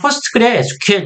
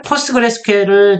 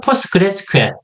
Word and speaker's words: PostgreSQL: 포스트그레 SQL이라고 표현하지만 공식적인 발음은 포스트그레스QL. 예, 포스트그레스QL 중간에 묵음이 들어가요. S 발음이 두 번 중첩이 되다 보니까 S 발음을 없애서 포스트그레스QL 이렇게 표현을 합니다.